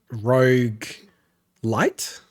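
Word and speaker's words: roguelite: game cuz it's a rogue light is that right way to say it yeah yeah yeah that'll be the right way which is almost like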